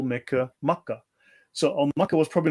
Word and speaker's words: Makkah: because the god is also called Mecca or Makkah as the which is the regional pronunciation, right?